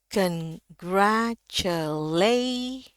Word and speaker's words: congratulate: Kalau kita baca dari awal, congratulate, ya, lay paling tinggi nadanya.